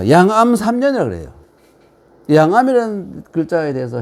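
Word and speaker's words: 諒闇: 암자라는 글자는이 이렇게 쓰지만 음자를 썼지만 이것을 아 발음을 암이라 읽어야 돼요. 예. 양음이라 읽는게 아니라 암이라.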